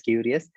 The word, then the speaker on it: Kiwrious: uh curious i mean it's actually supposed to be curious change c with k so it's it's pronounced as curious the curious science experience